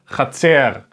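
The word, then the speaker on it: חצר: So altogether it makes cha, C, R, Chatzer, Chatzer.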